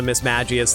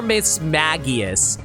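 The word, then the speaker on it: Mismagius: to not get the Miss magius though is it Miss magius or Miss Maggie I think the G can't be pronounced like an S kind of sound it's like J like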